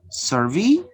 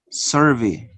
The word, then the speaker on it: survey: Notice, if you change the stress, the syllable which is stress, you can change the type of word. Survey, survey. Notice, record, record. Notice, record is the verb. Record is the noun. Notice here, how could you change the type of word just by changing the stress pattern from first to second syllable.